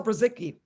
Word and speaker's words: Brzycki: can ever spell it it's b r z y c k i dot com just like it sounds just like it sounds